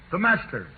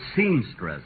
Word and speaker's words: semester: say it one more semester you know folks at rehearsal he kept pronouncing it seamstress imagine seamstress a natural mistake for a